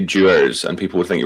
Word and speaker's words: Dewar's: brand in the States, Dewar's. None of them know how to pronounce it, but it's a huge brand in the States. You guys have the doors, was always the question that would get asked.